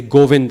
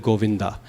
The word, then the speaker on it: Govinda: language speakers is because we eat up that final a. And it causes a lot. We say Govind instead of Govinda. And in Sanskrit, that final a is not optional. It has to be pronounced.